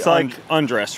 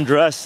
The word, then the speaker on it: Andres: So you say Andrés, right? Like Andrés, like take off your clothes.